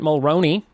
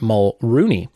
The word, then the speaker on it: Mulroney: Jessica Riggs number 10 Dermot Mulroney or as I pronounced it all week until someone yelled at me Dermot mole Rooney brings a Sarah Jessica